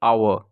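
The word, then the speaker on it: hour: देखिए यहाँ पे है तो वर्ड एच से स्टार हो रहा, मगर एच यहाँ पे क्या है? साइलेंट है। और यहाँ पे आवाज़ क्या निकल रही है? आवर, ठीक है?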